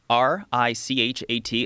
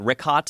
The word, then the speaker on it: Richat: yeah, the Richat, R-I-C-H-A-T. It's worth mentioning he's that. got it already here. Yeah, in the Now- first couple, I just want to say it's Richat. I used to call it Ricot.